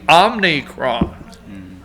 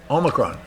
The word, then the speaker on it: omicron: not pronounce the act they had an n in there on monday so they started the week out telling you it was the omnicronk now how do you pronounce it omicron oh it's a great